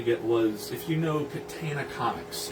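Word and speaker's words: Catana: The other thing is that I wanted to get was, if you know Katana Comics, it's spelled with a C, it's pronounced like the sword. Katana Comics released, I think,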